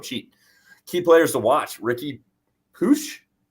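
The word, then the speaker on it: Riqui Puig: Key players to watch: Ricky Puig. Is that? Thank you. That's how you say it.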